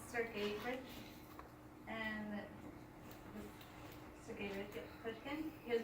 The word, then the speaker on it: Sergeyevich: And his middle name is pronounced Sergeyevich, and Sergeyevich Pushkin.